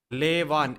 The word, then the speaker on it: Lavon: Lavon, L-A-Y, just like L-A-Y, lay and Van. Lavon is the correct pronunciation.